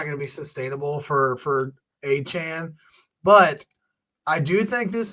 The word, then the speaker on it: Achane: And then I don't know if you saw this too, but Devon Achane. Not Achane. Came out about anymore, the pronunciation. Yeah. So the debate is like, over. It's Achane.